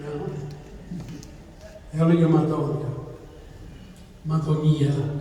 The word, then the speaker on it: Madonia: Madonia actually is the right pronunciation, I believe.